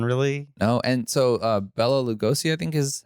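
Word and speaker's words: Bela Lugosi: lot going on really no and so uh bella lugosi i think is how you say his name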